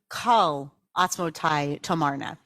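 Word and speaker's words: כל עצמותי תאמרנה: That's usually how we pronounce it. It comes from Tehillim, Kol Atzmotai Tomarna. But some people claim that the pronunciation of this line should be Kal Atzmotai Tomarna.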